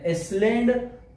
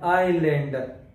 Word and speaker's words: island: Letter S is not pronounced in the following words. Island island اسلینډ نه ویل کېږي. دلته د اس توري موږ سره ساکن ده. اسلینډ غلط ده. آیلینډ آیلینډ.